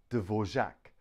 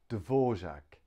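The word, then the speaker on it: Dvořák: okay we can pronounce it divert over Devore Dvorak Dvorak Dvorak Dvorak three-syllable Dvorak next one is ah now we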